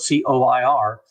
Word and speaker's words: coir: Spelled c o i r, because actually it's pronounced care, but you know, everyone says coir.